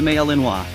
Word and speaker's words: Malinois: about this breed the Belgian Malinois pronounced a maleenwa is a medium-sized Belgian